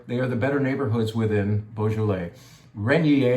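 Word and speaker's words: Régnié: Renier is how you pronounce it.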